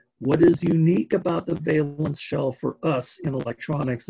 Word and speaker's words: valence: shell it is pronounced valence with a with a long a instead of balance balance is what people have over their windows this is valence and the valence shell